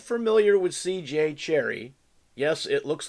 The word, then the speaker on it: Cherryh: Is it Cherryh, Cherish, or... Yeah. So it's pronounced Cherry.